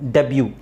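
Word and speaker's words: debut: ಡಬ್ ಇಲ್ಲಿ ಮತ್ತೆ ಬಾ ಡೆಬ್ಯು ಅಂತ ಹೇಳಬೇಕು ನಾವು ಬಿ ಯು ನ ಬ್ಯೂ ಅಂತ ಹೇಳಬೇಕು ಡೆಬ್ಯೂ ಡೆಬ್ಯೂ ಡೆಬ್ಯೂ ವ್ಯಾಲೆ ವ್ಯಾಲೆ ವ್ಯಾಲೆಟ್ ಅಲ್ಲ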